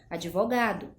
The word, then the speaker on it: advogado: inadequada que seria advogado a gente acrescenta vogal na sílaba ea constante ela é muda e a pronúncia correta seria advogado nós temos também a